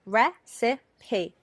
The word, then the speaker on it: recipe: receipt receipt but recipe recipe three syllables receipt receipt - two syllables so those are what